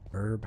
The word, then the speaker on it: herb: on this right no herbs or nothing herb herb however the hell you pronounce it pretty sure the h is silent there's a grenade okay